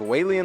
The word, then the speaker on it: Whalien: this one is whan I think it's pronounced whien like whale alien like like the villain